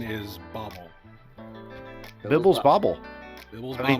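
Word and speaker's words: Bawel: But according when we Googled it, it said pronunciation is Bobble.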